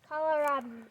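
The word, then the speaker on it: kohlrabi: Call Robbie. Call Robbie. That's spelled K O H L R A B I.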